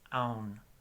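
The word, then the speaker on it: ão: Y hay un montón de palabras en portugués que terminan con AO, con tilde sobre la A, y ese sonido es aun, como si fuera A-U-N. Con N, no sé por qué, pero se pronuncia así.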